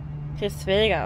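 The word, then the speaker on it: Hraesvelgr: Chris Welger, okay, so hoch heißt der, so wird ausgesprochen.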